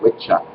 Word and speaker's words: wicca: For example, the idiots that come out and call themselves Wiccans are spelling it with two C's that would have been spelled witcha, and that was a plural for witches.